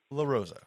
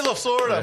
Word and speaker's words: Lasorda: All right, and That my is MBW, my big one is going to be Tommy La Rosa. What? I said it wrong again. Tommy Lasorda. Tommy My Lasorda.